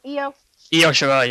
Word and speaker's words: Io Shirai: Io Shirai, yeah.